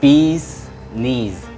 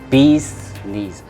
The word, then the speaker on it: Bee's Knees: 비즈니스가 아니라 Bee's Knees. 비니즈 아니고 Bee's Knees.